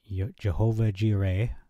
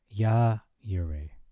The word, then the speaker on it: Jehovah Jireh: Genesis 22 passage, specifically the Jehovah Jireh, as a lot of people pronounce, but it's actually, not trying to get into an argument, but Yah Yireh.